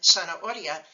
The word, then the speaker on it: zanahoria: And as you can hear in zanahoria, the letter Z is not pronounced like a Z in Spanish. Spanish doesn't have the Z sound. So in Spanish, a written Z is pronounced like an S if you live in Latin America, including the United States.